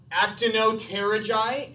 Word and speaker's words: Actinopterygii: Now, some people pronounce these actinopterygii, and because the P is silent when it's at the beginning of a word, so maybe it should be silent in the middle as well.